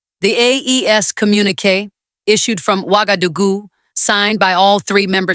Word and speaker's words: Ouagadougou: That is how long before the attack that the chiefs of army staff of Burkina Faso, Mali, and Niger met in Ouagadougou, pronounced Wa-ga-du-gu, April 16th and 17th, 2026.